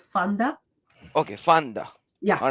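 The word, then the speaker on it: Pfander: and you will know why Fonda F sorry Fonda it pronounced says Fonda okay Fonda yeah all right F PE silent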